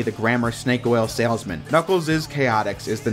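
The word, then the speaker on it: Knuckles': characters revived from 1995's knuckles is chaotix yes it's pronounced knuckles is even though it's just an s apostrophe i don't know what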